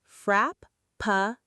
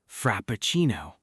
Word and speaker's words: Frappuccino: want to order a frappuccino. Let's break it down and say it slowly together. Frap-pa-chi-no. Frappuccino.